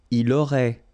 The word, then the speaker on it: il aurait: Il aurait, elle aurait, final T not pronounced.